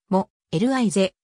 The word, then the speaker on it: Molise: 小さな集であるイタリア語モーリーズはも li ぜと発音される標準イタリア語以外